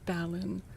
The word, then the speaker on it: Balan: So, B- A L A N is Balon.